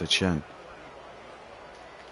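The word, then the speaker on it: Achane: He's who I was telling you about with um his name actually means it means Steven, but it's pronounced a chen.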